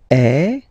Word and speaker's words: est: the verb, so il est, or then elle est, so you can notice that even if we write them differently, this est like that and est like that, we pronounce them the same way, and that's usually the